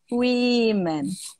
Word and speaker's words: women: A gente só troca a letrinha aqui no final, porém até mesmo o começo muda a pronúncia. Woman, women.